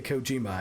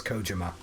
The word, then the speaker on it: Kojima: that's tracks I know people mispronounce um uh coach Kojima because they say Kojima and it's Kojima hideo Kojima uh and like even people who you think would like know how to pronounce it correctly uh the guy from the game awards who's supposed to be his friend pronounces it wrong uh one thing I